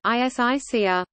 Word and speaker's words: ἡσυχία: Hesychasm, Greek, Hesychasmos, contemporary Byzantine Greek pronunciation, Isixazmos, derives from the Greek Hesychia, Hesychia Greek pronunciation, Isicia, stillness, rest, quiet, silence, and Hesychazo Greek pronunciation, Isizazo, to keep stillness.